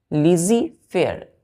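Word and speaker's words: laissez-faire: लिजीफेयर, लिजीफेयर। अब ध्यान दीजिए, प्रोनाउंसिएशन हम क्या कर रहे हैं यहाँ पर? लिजीफेयर, लेकिन लिख क्या रहे हैं हमने? क्या लिखा है यहाँ पर? LAISSEZ, लेजिज, लेसिज।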